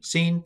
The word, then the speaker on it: Sin: So sheen, and it's sh sound, and then seen is s sound.